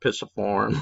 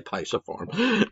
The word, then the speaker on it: pisiform: right here play tysoform i've heard it pronounced pissiform but i say pisiform right and then you